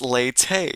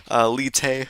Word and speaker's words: Leyte: Okay, seems like it's Leyte. Yeah, okay. Sorry, one of my Spanish friends was saying it's like Lite or something like that. I'm like, I think it's Leyte. I've seen it pronounced Leyte.